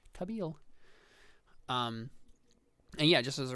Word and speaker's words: Kabil: Pronounced this way, and this is why I had to look up the pronunciation of this, because the I sounds like a long E, so Kabil.